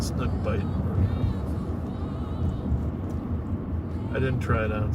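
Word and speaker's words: Bight: And I've always mispronounced it as Snook Bright. Okay, and finally when I figured out it was Snook Bite, well, Bite is supposed to be I-D-E, right?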